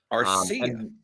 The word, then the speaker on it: Arcia: See, I pronounced his name correctly this time. Arcia.